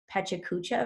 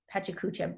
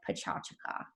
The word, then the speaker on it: Pecha Kucha: It's actually it's spelled like it would be pronounced Pecha Kucha, but the correct pronunciation is more like Pecha Kucha.